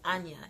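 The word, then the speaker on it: Ajna: That one is pronounced Anya.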